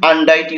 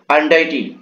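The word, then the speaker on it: untidy: যে আনডাইটি মানে কি এটা কিন্তু ডিটি না বুঝছো এটা কিন্তু আনডাইটি উচ্চারণ হবে উচ্চারণটা কি হবে আনডাইটি আনডাইটি মানে কি অপরিষ্কার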